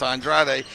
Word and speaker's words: Andrade: say it right it's it looks like Andre but it's Andrade and Jim Carry who